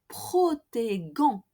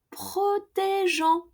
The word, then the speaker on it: protégeons: with the nous form, we also add an E after the G and before the ending ONS to keep the soft G sound of the infinitive. So we want to keep that G sound, protéger infinitive. So without that E between the G and ONS, we will pronounce nous protégons. And we don't want that, okay?